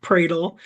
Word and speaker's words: Pradel: I'm Pradle. Um but the prayers are not dull.